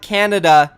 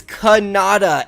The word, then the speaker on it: Kanada: It's not Canada, it is Kanada, and this kid Kanada is an absolute animal, guys.